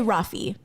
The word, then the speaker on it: Raffi: name really yeah but it's spelled r-a-f-f-i say rafi like an ah oh yeah it's an